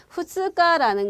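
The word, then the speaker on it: 二日: 후스가라는 거는 2일이에요, 여러분. 그 다음 날 이틀이에요. 그쵸? 두 번째 날인 거거든요. 자, 2일 말 그대로 2일이죠. 그래서 후스가 특이하게 읽힌 거니까 일단 기억을 하시고요.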